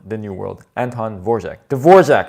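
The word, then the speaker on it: Dvořák: Dvorak, that's how you say it. Dvorak, not Dvorak.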